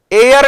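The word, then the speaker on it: heir: ये एयर टू उत्तराधिकारी, पहली बात तो इसके साथ टू लगता है, और इसका प्रोनाउंसिएशन सुनना भाई, एयर, और इसके साथ आर्टिकल एन लगता है।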